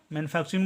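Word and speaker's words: manufacturing: का उच्चारण होता है चार टी यू आर का उच्चारण हमेशा करते हैं चर जब भी टी के बाद यू रहता है तो टी यू का उच्चारण होता जाता है छ और आर का उच्चारण होता है र और आई एनजी का उच्चारण तो होता है इंग ठीक है अब इसको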